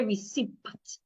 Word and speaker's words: receipt: The P is silent as well. Don't say receipt.